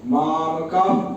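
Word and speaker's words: मामकाः: ठीक है, तो जब विसर्ग के बाद प फ आए तो इसका उच्चारण थोड़ा सा इस प्रकार से इसका उच्चारण होगा। अभी मैं करके दिखा, जैसे मामका पांडवाश्चैव, मामका पाक, मामका कम, मामका, ऐसे मतलब का नहीं करेंगे, वो विसर्ग का बहुत छोटा सा उच्चारण करके मुंह बंद करेंगे।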